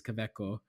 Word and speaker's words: Kaweco: So Kaweco is a German company. The way they would pronounce it is Kaweco.